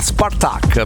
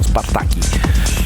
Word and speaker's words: Spartaque: Parliamo di Pablo Say o Pablo Say, se la vogliamo pronunciare allo spagnolo, insieme a Spartaque. Mi ha confermato, si pronuncia Spartaque e non Spartaki.